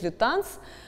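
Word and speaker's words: Lutens: моя подруга француженка и действительно фамилия несмотря на кажущееся нормы и правила французского языка с в данном случае в конце фамилий лютон читается поэтому этот известный стилист арт-директор основатель парфюмерного дома серж лета нс его зовут именно так фамилии его произносится так 6 герой сегодняшней рубрике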